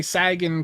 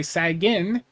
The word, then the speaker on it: Sagan: You know, I could say Sagan correctly, but if I say Sagin or Sagan, you know, it gets some nice comments.